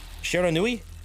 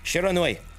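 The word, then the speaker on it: Shiranui: uh shounen surenoid she shironoi sharon newey no sharon i share and i it's always that last syllable i struggle with shironui thank you hello they bird won't you be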